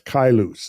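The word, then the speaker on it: Caelus: the figures of uh that's kailus is how that's pronounced in the figures of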